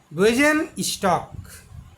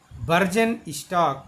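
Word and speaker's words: Bürgenstock: तो स्विट्ज़रलैंड के एक शहर है स्विट्ज़रलैंड का, उसका नाम है वेजन स्टॉक। वैसे उसकी स्पेलिंग है BUERGENSTOCK, बर्जन स्टॉक, लेकिन वास्तव में उसको पढ़ा जाता है विजन स्टॉक।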